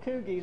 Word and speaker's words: Kuge: It's Kuge. There's no R in it.